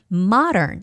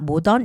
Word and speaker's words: modern: Modern, it's not modern, it's modern. Like when we say mother, mom, the O has more like an A sound, not O sound. So it's modern.